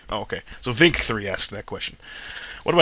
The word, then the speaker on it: VNNK3: By the way, my name is pronounced Vink. Oh, okay. So Vink3 asked that question.